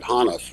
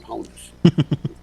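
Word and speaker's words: Honus: kind of amateur League that's how I learned to pronounce it hanas rather than Hess so he had been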